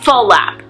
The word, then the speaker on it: flap: on black or a full lap as almost everyone calls it even though it's spelled FL AAP people say full lap because it has two sounds so you can try